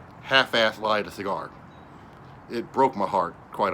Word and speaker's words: Xikar: Cigar, which is spelled Xikar, they make a great cigar that's got a lifetime warranty.